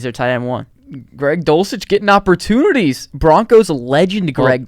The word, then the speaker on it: Dulcich: Greg Dolch. Wait, what? Dulcich? Yeah, why did I say it like that? Dolch.